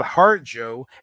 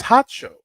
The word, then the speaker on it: Harjo: pronunciate his name right it's not hard Joe it's hot show come on get with